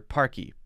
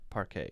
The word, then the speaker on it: parquet: i think i think they mean it to say parquet or parky not park a because that would be